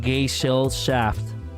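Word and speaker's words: Gesellschaft: Also, it's pronounced gay shell shaft.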